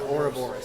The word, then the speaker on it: Ouroboros: me if I can't pronounce it but it's Ouroboros by Ray LaMontagne now the or horse or aura Boris yeah or Boris that's it by Ray LaMontagne it's a very